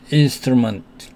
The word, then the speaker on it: instrument: 그 다음에 instrument에서는 단어의 마지막에 T가 왔고 NT가 단어의 끝에서 사용됐기 때문에 stop T가 됩니다. T를 다 발음하지 않고 반만 발음합니다. instrument 이렇게요.